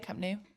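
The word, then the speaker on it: Camp Nou: It is amazing for them though that they were at Camp New is camp new. I know it's spelled N O Camp New.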